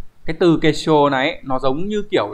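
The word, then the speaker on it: 結晶: Thì chữ tinh sẽ đọc là shō, các bạn nhớ trong từ thủy tinh chẳng hạn. Sui shō. Đây. Đọc là shō nha. Sui shō. Như vậy kết tinh sẽ là kesho.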